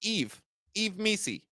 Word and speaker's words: Yves Missi: But if you look at that injury report and you see the questionables, Zion, Yves Missi, spelled Y-V-E-S, pronounced Yves Missi, and Kelly Olynyk from Drew's Raptors to the New Orleans Pelicans.